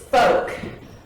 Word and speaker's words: Focht: girl named marcia well it's it's folk like poor folk or old folk can we bleep that